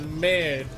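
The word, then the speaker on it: merde: Don't pronounce the second E, just mer, like mermaid, but maid. But mird.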